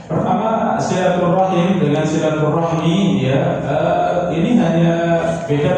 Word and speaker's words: silaturahmi: Beda pengucapan dua-duanya boleh ya kalau ee dalam pengucapan yang paling masyhur dalam bahasa Arab silaturahmi ya. Silaturahmi ini ya pengucapan yang paling masyhur ya. Kalau silaturrahimi ya itu jarang dipakai. Tapi dalam pengucapan kita bahasa Indonesia itu memang ya ada ee silaturahmi, ada silaturahim ya. Nah, ini yang ee mungkin ee seakan berbeda padahal kenyataannya sama ya sama cuman beda mengucapkan saja.